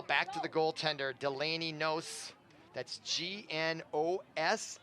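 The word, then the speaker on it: Gnos: to the goaltender delaney knows that's g-n-o-s i'm gonna say that the g is silent i might be wrong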